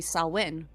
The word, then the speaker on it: Samhain: it's actually Samhain.